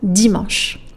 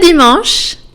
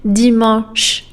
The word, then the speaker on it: dimanche: Dimanche. Never dimanche. No, please don't say that. Don't pronounce the E's at the end in French, guys.